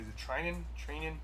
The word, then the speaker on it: Treinen: Is it Treinen?